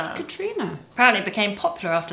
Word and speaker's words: Catriona: This Catherine variation used through Ireland and Scotland is pronounced Katrina. Katrina.